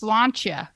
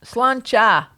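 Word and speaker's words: sláinte: wonder cat drank all that beer cheers okay pronounce slancha SLA slanta slancha to a prosperous New Year Heather thank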